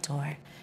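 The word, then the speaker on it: Dore: Because there is no accent on the E of Dor, assume it said Dor and not Doré.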